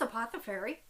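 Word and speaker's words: Apothefaery: might be apothecary yarns it's apothe fairy um which is spelled a-p-o-t-h-e-f-a-e-r-y all the links will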